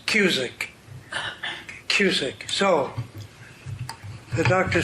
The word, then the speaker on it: Cusick: tonight or not, but my last name rhymes with music. It is Cusick.